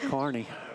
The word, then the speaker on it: Kearney: I can screw up a pronunciation, but that's how you say it, Kearney.